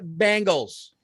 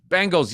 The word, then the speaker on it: Bengals: and the uh cincinnati bangles bengals yes you said it right not the bangles the bengals all right uh god